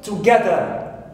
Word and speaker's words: together: second word I have together together so G here is second syllable which is stressed also clear right also